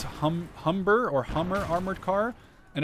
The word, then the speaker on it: Humber: my good friend Davidson how to pronounce hum Humber or Hummer armored car and apparently it says Humber Humber like h h m b r that's the correct pronunciation so that's kind of the the one